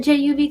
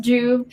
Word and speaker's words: Juv: it's juv consulting but do not call it juv consulting it's pronounced juve but i completely understand